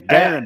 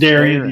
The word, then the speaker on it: Darren: And his name's Darren, by the way. I've been saying his first name wrong. It's Darren, yeah. I've been saying Darian. It's not. Same here. Darren.